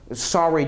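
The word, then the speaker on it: SRY: gene on it called the SR Gene better pronounced sorry Gene I guess discover was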